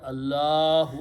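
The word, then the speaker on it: الله: When we say the full word, Allahu Akbar, so we are using the full word Allahu. But if this word comes at the end of this, then we don't pronounce the pesh or dhamma, Subhanallah.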